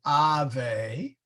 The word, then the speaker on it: Ave: and the Hail Mary we have Ave so we have a short ah and we have a long e so ah they actually